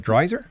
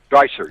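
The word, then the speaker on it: Dreiser: Dryer. Dryer.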